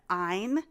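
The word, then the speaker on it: Ayn: So, I highly recommend and I want to hear what you think.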